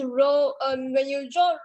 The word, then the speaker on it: rho: symbol is this one we pronounce this as room um teacher this this row um when you draw